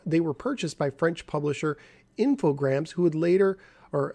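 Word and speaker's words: Infogrames: purchased by French publisher infograms who would later or I think I think the S is silent infogram who would later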